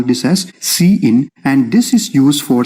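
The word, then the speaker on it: cin: see what they are number one we have c i n which is pronounced as c in so we call this as c in and this is used for standard input so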